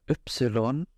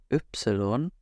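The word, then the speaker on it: Ypsilon: better next we have Epsilon Epsilon and uh this is not pronounced the same as why would be in English slightly different oops on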